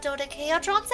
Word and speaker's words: dodecahedron: They are made of dodecahedrons, and regular dodecahedrons at that.